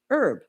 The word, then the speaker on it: herb: He was an American trying to correct me on how to say herb. And I said, 'Well, you know, if you're from at least parts of the UK, it is pronounced with the H.